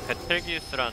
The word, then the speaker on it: 베텔기우스: 여러분 이거 뭐 이거 베텔기우스라는 노래 이런 거 안 되는 거 아니야? 이제 녹합 솔로 베르텔기우스야? 베르텔기우스도 아니고 베텔기우스 아니야?